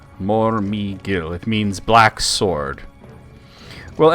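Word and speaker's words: Mormegil: Um Morgil is spelled m o r m e g i l. Morgil.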